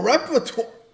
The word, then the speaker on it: repertoire: Oh, repertoire. Stands for IDEST. Hold which is on, Latin chat. for that is. Repertoire. How do we spell that? Oh my god. It's repertoire, not twar.